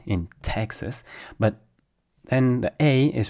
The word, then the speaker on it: Texas: In French, we we say a full a sound.